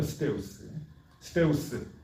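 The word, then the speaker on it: Ζεύς: 그리고 우리가 우리 아주 익숙하게 알듯이 그 당시의 종교는 우리가 지금은 그리스 신화라고 부르는 거, 그 뭐 제우스, 그러니까 사실은 제우스라고 발음하면 안 되고 스테우스거든요. 스테우스, 뭐 아폴론, 뭐 그런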